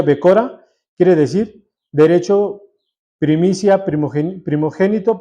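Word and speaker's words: בכורה: Pero aquí la primogenitura, en el original, en el hebreo del 1060, donde se pronuncia Becora, quiere decir derecho, primicia, primogénito, primogenitura.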